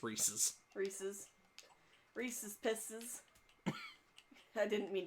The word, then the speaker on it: Reese's: Because technically he is correct, it is pronounced Reese's.